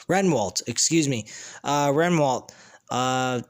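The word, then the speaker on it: Rehwoldt: they come back on drama king matthew uh bewalt i forgot how to pronounce renwalt excuse me uh renwalt uh tonight he shares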